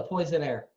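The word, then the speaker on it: poissonnier: The fish is a poisonnier. Yes, and it looks like Poseidon, and he lives in the sea.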